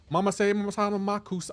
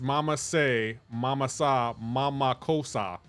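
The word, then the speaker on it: mama-say mama-sa ma-ma-ko-ssa: Mama say mama makus.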